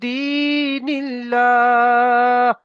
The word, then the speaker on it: دين الله: আল্লাহ লাম শব্দের আগে কি এসছে? জের এসছে, তাহলে লামকে বারিক করতে হবে, আল্লাহ শব্দের লামকে বারিক, আল্লাহ শব্দকে বারিক করে পড়তে হবে, তাহলে ফি দীনিল্লাহি في دين الله دين الله আফওয়াজা।